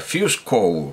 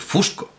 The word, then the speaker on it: Fusco: pronunciar paul pero no voy a pronunciar fiesco como como habitualmente oigo me parece que es un apellido italiano como poco como poco y voy a decir fusco voy a decir paul fusco me ha traído para